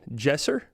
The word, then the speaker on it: Jesser: Jesser? Is that how you say it? Jesser? Okay. Like Jester.